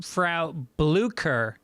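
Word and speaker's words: Frau Blücher: blucher the problem being you mispronounced the character's name phonetically it's flaw blue frow bleuker so that's really important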